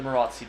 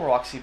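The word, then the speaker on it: Maróczy: And this is known as the Marozzi bind.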